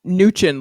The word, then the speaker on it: Mnuchin: Yeah, Mnuchin. Not like minutia. Mnuchin. M is silent, even though it's the biggest. It's the only capital letter. Got you. Yeah, Stephen T. No M. Mnuchin.